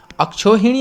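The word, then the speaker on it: अक्षौहिणी: अक्षोहिणी आता है हमारे पास, तो कभी कभार हम इसको अक्षोहणी कर देते हैं, अक्षोहणी, लेकिन ये अक्षोहिणी होता है, यहाँ पर एक की भी मात्रा आपके पास यहाँ पर होगी।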